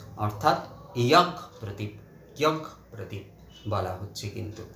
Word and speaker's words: যজ্ঞ প্রদীপ: এটা কিন্তু আসলে আমিও আগে ভাবতাম যে এটা বোধহয় জাগ প্রদীপ। আসলে আমাদের বাংলায় এই যে দুটো জয় উচ্চারণ করার পদ্ধতিটা এমনই যে সেখানে আমরা এই জয় উচ্চারণ করি মূলত, কিন্তু এটা অ্যাকচুয়ালি ইয়াগ প্রদীপ, অর্থাৎ যজ্ঞ প্রদীপ, ইয়াগ যজ্ঞ, এই যে যজ্ঞ